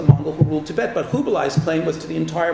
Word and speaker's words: Kublai: Yeah, I generally tend to say Kublai, which is the Mongolian pronunciation.